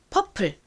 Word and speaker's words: purple: 이 끝에 오는 ple가 p보다는 이 피읍이가 조금 세게 발음이 나는 경향이 있어요. 그래서 purple, purple 이렇게 살짝 쌍비읍에 가깝게 소리가 나는 점도 참고로 알아두세요.